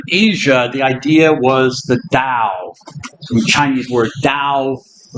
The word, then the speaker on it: Tao: We'll sometimes also see it written as Tao, the Wade Giles writing system. But nowadays, they've changed that. It should really be pronounced like a D, Tao, or Tao.